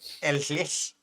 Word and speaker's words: Ellyll: Yeah, Ellyll's okay. Yeah. I mean, technically it's like Ellyll, but Ellyll sounds. Yeah, Ellyll sounds better.